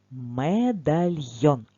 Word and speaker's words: медальйон: зошит що це це медальйон прочитай самостійно це слово медальйон давай визначимо наголос покличемо слово медальйон О так буквосполуч там де є буквосполучення йо завжди наголос буде на о запам'ятаємо цю хитрість так медальйон прикраса для шиї